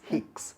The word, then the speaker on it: Hicks: fourth syllable is the braxton kicks yes black not kicks hicks those are short contractions